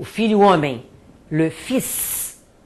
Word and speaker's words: fils: Por exemplo, a palavra filho, o filho homem, le fils. Eu sou obrigada a falar o S, mas normalmente eu não falo.